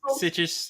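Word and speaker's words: Sitges: at Fantastic Fest but also shown at the sit sites is that how you say it something like that it's situs yeah okay earning a nomination for best motion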